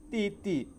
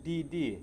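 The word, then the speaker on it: 弟弟: Jadi di ini bacaannya dibaca titi bukan did.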